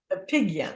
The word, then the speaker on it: Apigian: Dr Amy and I didn't check your name pronunciates is it appease a pigeon a pigeon okay and uh she's an MD an m